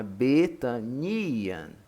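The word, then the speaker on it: Βηθανίαν: Então, como tem um acento no iota, então é Betanian, Betanian, Betânia.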